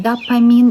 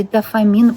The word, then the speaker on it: дофамин: И не нужны дополнительные какие-то улучшения, какой-то дополнительный допамин или дофамин, оба, кстати, правильно сказать, потому что pH читается как допамин, именно по-английски, в современном английском, но в русском языке читается дофамин.